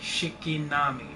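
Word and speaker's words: 敷波: It is pronounced approximately Shikinami and Shikinami Hideaki Anano, has confirmed that Asuka,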